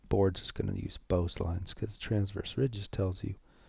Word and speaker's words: Beau's lines: Beau's lines are different, so kind of weird pronunciation. Beau's like Beau's stereos, Beau's lines.